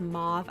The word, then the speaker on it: mauve: a taupe mo okay I normally pronounce this as mauve I have no idea why I'm saying mo I think I'm just